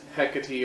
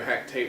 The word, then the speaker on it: Hecate: Greek gods and those hecka T or Hecate however you prefer to say it say her name for